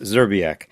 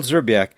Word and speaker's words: Szczerbiak: the guest, it's pronounced Zerbiac. And the guest will zerak says to ignore the first few consonants.